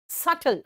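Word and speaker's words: subtle: सटल बेटा सबटल का भी साइलेंट है।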